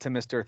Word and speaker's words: Thom: I'm going to need you to show more respect to Mr. Thom Yorke. Thom. I know that it's Tom, but it's spelled Thom because I think it's so pretentious.